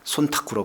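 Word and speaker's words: 忖度: 이거를 일본 말로 하면 손타쿠라고 그러잖아. 손타쿠. 한자로 하면 촌탁인데 그걸 일본 말로 하면은 손타쿠로 발음이 되는데 시키지 않아도 우리 총리께서는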